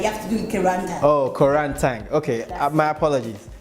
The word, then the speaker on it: Koranteng: Koranteng. Like tank. Koranteng. Oh, okay. You're Ghanaian, like you have to do Koranteng.